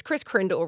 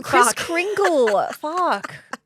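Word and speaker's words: Kris Kringle: I Is it It's Chris Krindle, right? No, Chris Kringle.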